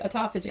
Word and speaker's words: autophagy: You said it right, autophagy.